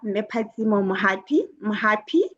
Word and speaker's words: Mui Mui: Good evening, madame toast master, fellow toast masters, visitors, and especially our speaker Mui Mui. I hope I'm pronouncing it correctly.